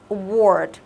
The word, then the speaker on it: award: Mình sẽ đọc là award. Award. Thì cái này á, mình nhớ là mình sẽ đọc nó thành âm O dài, hiểu chưa?